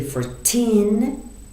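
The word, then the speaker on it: fourteen: Yes, you say for 10, 40. For 10, 40. تو for 10 صداتون و استرس کلمه آخر کلمه است. For 10. ولی تو 40 اول کلمه رو قوی میگید 40.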